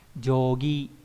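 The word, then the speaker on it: 定規: Thế nhưng khi đảo ngược lại là chữ định ghép với chữ quy thì nó không đọc là teki nữa, đúng nhỉ, mà cả hai cái đều biến đổi đổi thành yogi.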